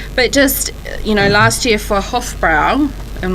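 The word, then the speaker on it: Hofbräu: But just, last year for Hofbrau, I'm not sure if I pronounced that right.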